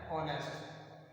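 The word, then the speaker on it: honest: अंग्रेजी का व्यंजन है, परंतु इसका हम उच्चारण करते हैं, प्रोनाउंसिएशन करते हैं तो क्या होता है? ऑनेस्ट।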